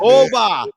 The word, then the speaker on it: Oba: Oba.